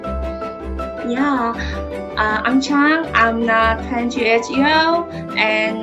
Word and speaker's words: Trang: So not channel, not trang. Yeah. It's because the way you pronounce it, like there's no R, yeah.